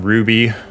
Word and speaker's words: RWBY: your time uh I'm going to take some Ruby um I I think they spell it RWBY yeah up here that's how I